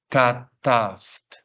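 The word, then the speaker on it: כָּתַבְתְּ: Pues obviamente se pronuncia kataft. Kataft. Simplemente hago sonar las dos últimas consonantes.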